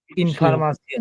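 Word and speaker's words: Information: দেখেন এইখানে সিয়ন আছে কিন্তু টে, টে আছে কিন্তু টে, ই ও এন আছে, এইটার উচ্চারণ হচ্ছে সিয়ন। ইনফরমাশন, এই যে ইনফরমাশন মানে তথ্য।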